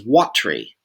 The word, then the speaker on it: watery: When you get to this in the text, you'll see it says watery. That's 2 syllables.